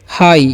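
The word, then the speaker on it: high: होगा डिमांड, ठीक है, हाई, इसे हम लोग पढ़ते हैं हाई, ओके। जी एच का उच्चारण क्या करना है, कुछ भी नहीं करना है, मतलब ई कर देना है, आपको ध्यान रखना है हाई।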